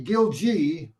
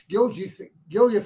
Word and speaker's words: Gilje: In pronunciation, Norwegians all say Gilje, but in America, most of us say Gilje, but there are a few Gilje families in America who still use the Norwegian pronunciation Gilje.